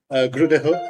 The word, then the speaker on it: Grydehøj: And today with me I have a very special guest, Professor Adam Grydehøj. Did I pronounce it right?